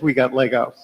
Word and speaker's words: WGTLGO: And we are, at least for now, working on whether we have consensus to pronounce it as we got Lego.